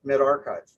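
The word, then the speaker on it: medRxiv: with the rx in the middle but it's pronounced mid-archive and i'll get a little bit more into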